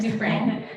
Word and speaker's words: Dufresne: Dufresne. And I'd like to say it the way it's spelled.